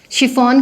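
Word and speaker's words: chiffon: सी के बाद अगर एच आया तो उसकी प्रोनाउंसिएशन श भी होती है। वो कैसे होएगा, कुछ एक केसेस होंगे, जैसे कि शिफॉन की साड़ियाँ बड़ी मशहूर हैं, CHI, शिफॉन, राइट, यहाँ पे इसकी प्रोनाउंसिएशन हुई श।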